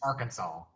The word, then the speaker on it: Arkansas: that kind of weird it's not our kansas it's arkansas that's how you pronounce it so it's weird how